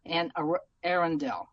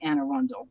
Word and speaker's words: Anne Arundel: There's Anne Arundel, Anne Arundel is how they say it in England. We say in Maryland, we say Anne Arundel, but it's the same woman. They're just different ways of saying it.